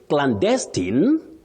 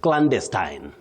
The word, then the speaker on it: clandestine: is clandestine The second one, the stress is on the first syllable. That is at the onset, the beginning of that word. You say clandestine. That is also acceptable.